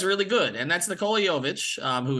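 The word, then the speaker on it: Jović: but he looks really good and that's Nicola yovich who it's taken me a year to pronounce his name uh of course yovich drafted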